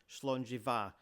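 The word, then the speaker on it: Slàinte mhath: You can see that it's not just the BH that's sounded as a V. MH is too. Here it is again on the Scottish toast slongjiva which means good health.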